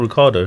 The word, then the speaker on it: Ricciardo: I can't pronounce that No, name. it's Daniel Ricciardo. Is it Ricardo?